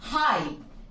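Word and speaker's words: high: spelling let's check out हमने कहा हाई एच आई जी एच ये जीए कहां गया इसे तो साइलेंट रखा है हमने क्यों रखा साइलेंट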